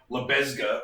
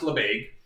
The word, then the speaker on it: Lebesgue: which is known as labaig integration it's spelled it's french name so you know french spelling it looks a bit odd to those of us who are native english speakers it looks like lebesgue or something but it's